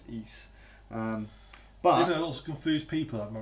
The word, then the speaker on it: Ys: on the tomographic see that's how they pronounce it in the introductory cutscene so it's no it's